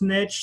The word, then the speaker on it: niche: riches is in the niches if that's how you pronounce niche some people call it niche but then the phrase doesn't sound as good because it doesn't rhyme but it's the truth